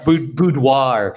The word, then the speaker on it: boudoir: you say that photo shoot oh yeah yeah boudoir you don't want it to look like that